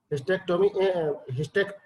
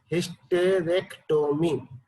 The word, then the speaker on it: hysterectomy: हिस्टेक्टोमी बोल रहे हैं, बोला जाता है हिस्टेक्टोमी, लेकिन बेसिकली ये प्रोनाउंस होता है हिस्टेरेक्टोमी। हिस्टेरेक्टोमी HYSTERECTOMY, ठीक है।